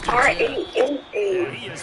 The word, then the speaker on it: rana: R-A-N-A. Rana. Is this Rana Spanish for frog? You gotta roll the R.